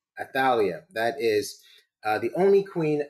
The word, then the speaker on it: Athaliah: She says it is Athaliah. Is that correct? Athaliah.